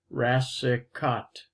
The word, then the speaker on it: Rassicot: The first C is pronounced like an S, Rassicot.